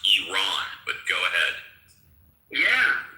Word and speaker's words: Iran: Everybody in the Middle East knows that Iran is pronounced Iran, but go ahead.